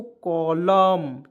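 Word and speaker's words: column: यहाँ पे देखिए सी ओ एल यू एम एन, क्या पढ़ेंगे दोस्तों, कॉलम।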